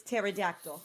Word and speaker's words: pterodactyl: pterodactyl or the peter the pea is definitely silent you know the scientists thank you for asking the scientist it's pterodactyl yes okay that's why